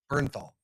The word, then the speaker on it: Bernthal: Berth is the right Bernthal.